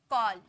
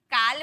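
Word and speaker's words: call: एल आया ना तो इसे अ में पढ़े कॉल काल बोले क्या काल केल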